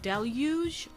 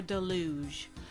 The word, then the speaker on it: deluge: Our next word can be pronounced deluge or deluge.